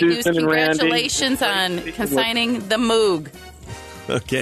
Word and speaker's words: Moog: congratulations on consigning the Moog okay that how you pronounce it moo okay thank you all